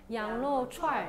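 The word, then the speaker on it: 羊肉串儿: 양그루 추안르 . 어떻게 발음 하나 요 ? 양그루 추안르 . 좋아 요 . 저 는 "er" 소리 를 붙이는 걸 좋아해 요 .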